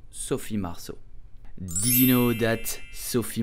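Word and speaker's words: Marceau: say Sophie Marshall so the letter e a u make the sound o in French so Sophie marso did you know that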